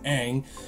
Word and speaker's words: Ang: wrong first of all it's not un it's Ang and Shyamalan with the